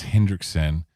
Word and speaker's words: Henriksen: When we were watching Lance Henriksen, I said, Lance Henriksen. That's what I just fucking said. You had a D in there.